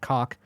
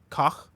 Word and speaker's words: Koch: Coke is pronounced like Coke in America. The pronunciation for Coke Media is not cock. It's caw with a phlegmy at the end. Koch. Glad to do that directly to a microphone.